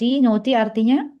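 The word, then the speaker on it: naughty: Karena yang a U gh-nya kan itu semua dibacanya o jadinya. Tinggal baca yang t sama Y-nya. Jadi, not. Not artinya nakal.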